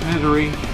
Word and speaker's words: Missouri: I'm from Missouri, sometimes pronounced misery.